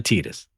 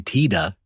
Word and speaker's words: Tidus: Do you say Titus or Tidus? Uh Tidus. Correct. There we go. Yes. Well, at least I don't say Tida.